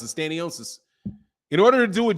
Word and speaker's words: Stanionis: So I would say more like he meant Stanionis. How do you pronounce it? Stanionis.